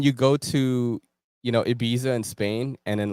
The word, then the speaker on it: Ibiza: That's kind of like when you go to, you know, Ibiza in Spain, and then like, no, it's pronounced Ibiza, and you sound like an asshole.